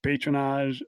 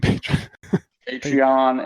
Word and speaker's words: Patreon: And on Reddit, patronage. How do you say that word? Patreon, and thank you, Horizon Brave.